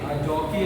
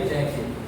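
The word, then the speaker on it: jockey: जॉकी या जैकी जैकी वैसे इसका प्रोनाउंसिएशन जॉकी है। नॉट जैकी।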